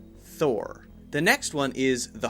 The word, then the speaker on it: Thor: very clear her her if it's Thal thaw it sounds too much like aw so it should be very clearly Thor the next one is